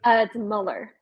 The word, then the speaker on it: Muller: Is that how you pronunciate it? It's Muller.